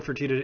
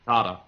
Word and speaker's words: Fertitta: Yeah, I think the one thing the Nets have benefiting them against Philly is that Tillman Fertitta isn't going to want to deal with Daryl Morey. It's pronounced Furtada.